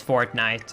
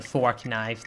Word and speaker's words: Fortnite: It's Fortnite. I kept saying fork knife the entire time, so Fortnite wants me to change up the ad because I couldn't pronounce Fortnite.